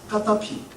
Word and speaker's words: 카다피: 카다피 본명이 뭔지 아세요 무하마드 카다피 아랍식 발음으로는요 무한말을 까타피 이렇게 발음한답니다 그가 1942년생이거든요 누구와 동갑이죠